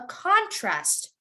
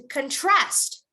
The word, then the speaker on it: contrast: everyone repeat after me when it's a noun you would say a contrast a contrast correct if it's a verb you would say to contrast to contrast and best